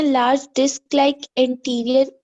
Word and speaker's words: anterior: ए है, एंटीरियर होता है, इंटीरियर नहीं, एंटीरियर, ANTRIOR, एंटीरियर।